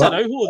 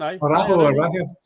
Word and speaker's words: Araujo: It's Araujo. That's how it's pronounced. Araujo. The J is pronounced like an H, basically. Listen, I'm going to butcher a few more here before this is over.